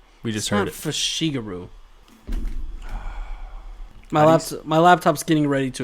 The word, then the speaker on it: Fushiguro: It is definitely Fushiguro.